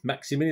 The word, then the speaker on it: Maximin: missing through injury and saint maxim millions maximum maxi mini that's how you pronounce it he came off